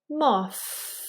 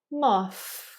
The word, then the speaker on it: moth: infamous th sounds so the rule of thumb is to touch your tongue tip on the edge of your upper teeth for th moth notice that I'm blowing the air out while I'm touching my tongue tip on the edge of my upper teeth moth teeth through now